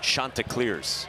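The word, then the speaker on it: Chanticleers: They're on a 25game winning streak and their team name is pronounced Shantaa Clears.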